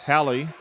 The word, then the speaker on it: Hallie: and controlled here by Hallie Wharram rhymes with Sally it does been a